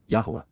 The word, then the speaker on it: Yahowah: the mission of accompanying and serving with yahwah yahwah the proper pronunciation of the name of eloah God as